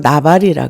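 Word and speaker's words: נבל: 왜냐면은 그래서 어리석다이 얘기는 그이 원어 발음은 나발이라 그래요. 나발.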